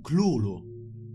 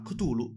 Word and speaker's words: Cthulhu: Lovecraft trascrisse la pronuncia di Cthulhu in Clulu, ma tempo dopo la sua morte la pronuncia Cthulhu divenne comune ed è tuttora la più diffusa.